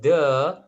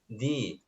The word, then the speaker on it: the: Kalau the itu ketemu huruf a, i, kemudian u, e, o itu dibaca di. Berarti bacanya bukan the tetapi bacanya di.